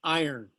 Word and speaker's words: iron: ones first the elements this one's called iron it's spelled iran but you say it iron this one here is